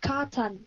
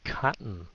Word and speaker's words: cotton: By cotton. Oh, cotton. Okay, so cotton. Muốn phát âm chữ này sành điệu không? Cotton. Cotton. Cut. Cái xong nín thở lại.